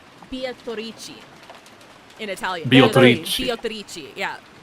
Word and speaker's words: Beatrice: I just learned that Beatrice is actually Italian, and that's why it's transcribed in katakana and pronounced that way, because in Italian it's pronounced Beatrice.